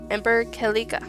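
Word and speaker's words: Ember Celica: Her weapon of choice is a pair of dual-ranged shot gauntlets named Ember Calica, and I'm basing that off of the Latin pronunciation of its origin word.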